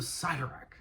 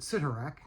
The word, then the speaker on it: Sidorak: The Crimson Bands of Sidorak. And so, as a kid, before Marvel cartoons and such as that, I always pronounce it Sidorak, but my understanding is it's Sidorak.